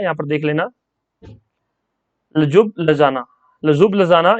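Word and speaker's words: Ljubljana: ये स्पेलिंग थोड़ा सा अटपटा है, यहाँ पर देख लेना। लजुब लजाना, लजुब लजाना ये कैपिटल है स्लोवेनिया की, तो नोट डाउन कर लेना और याद कर लेना।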